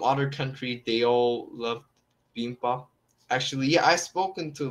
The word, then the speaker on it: bibimbap: I think, yeah, you might like it because, you know, lots of people from other countries, they all love bibimbap.